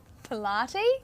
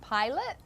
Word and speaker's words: Pilate: from this chapter and i said um pilate instead of pilate yeah so i read